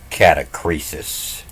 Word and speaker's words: catachresis: You might want to pronounce it as a catachresis.